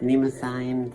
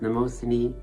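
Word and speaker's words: Mnemosyne: memory pronounced many ways in the show sometimes pronounced nemo sign sometimes mimosa the four new red pills that i just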